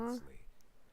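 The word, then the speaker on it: Wriothesley: Risley. He's a very Risley.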